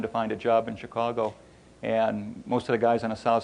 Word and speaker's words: Chicago: I'm originally from Chicago. I said it right that time for those of you who are, usually I say Chicago, see whose ears perk up.